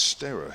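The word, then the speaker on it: Sterre: Oh, it's Stera, he says. Stera Caris. Okay. I've always said Stir, and I must admit, if I've got that wrong, apologies.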